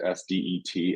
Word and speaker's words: SDET: And I became an SDET, that's how I pronounce it, SDET, SDET, very early in my career and loved it.